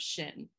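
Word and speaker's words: שין: make a lantern out of that um it's pronounced shin and it means truth so i just thought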